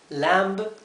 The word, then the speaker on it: lamb: Lamb es cordero, y fíjense que se pronuncia la B del final. Lamb, lamb.